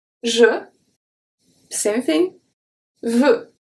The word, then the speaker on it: veux: Veux. So this one is an open sound. Because we don't have anything after that comes and closes the sound, because the X is not pronounced.